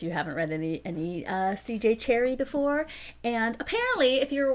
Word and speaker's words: Cherryh: Cherryh before. And apparently, if you're wondering, if you're like, that's not how it's pronounced, no, I looked it up on Google, and that is how you pronounce it.